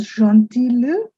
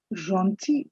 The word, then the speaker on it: gentil: It's not gentil, L is silent. C'est gentil de vous.